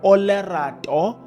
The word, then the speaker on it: Olerato: The name of this young lady is Olerato Mal, and I'm saying it correctly, and I'm not missing anything.